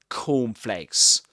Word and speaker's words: cornflakes: So he pronounces 2 k sounds, but the first one is unreleased. He doesn't release the air at the end of it. He doesn't say like cornflakes, but like cornflakes.